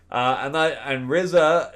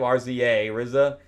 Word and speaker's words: RZA: And RZA, is how you say his name, RZA, RZA.